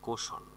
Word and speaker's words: caution: কোশন CAUTION উচ্চারণ হবে কোশন মানে হচ্ছে সতর্ক করা।